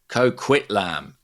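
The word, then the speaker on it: Coquitlam: Is this how you pronounce cockitlam? Kquitlam.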